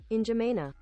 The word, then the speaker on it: N'Djamena: Yeah, pronunciation is literally the first thing that comes up. All right, here we go. Oh, N'Djamena.